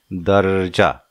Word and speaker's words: दर्जा: यानी र बाद में, लेकिन यहाँ उच्चारण पहले, जैसे कि दर्जा, र पहले, द, र, जा, दर्जा, अर्जुन, अर्जुन हो गए।